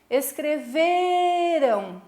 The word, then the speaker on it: escreveram: gritar a palavra escreveram como é que eu vou dizer escreveram tão vendo que eu puxo no ver então esse veio aqui é a sílaba tônica não é Afinal como a